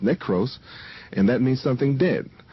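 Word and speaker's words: νεκρός: e k r oos which means NEC it's pronounced necros and that means something dead so uh if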